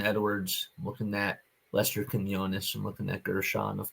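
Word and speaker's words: Quiñones: the last roster spot probably goes to Lester Quinones. Is that how you pronounce it?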